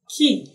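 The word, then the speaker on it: quay: tempted to say k no it's pronounced key key the same way the key you use you use in opening a door is pronounced k e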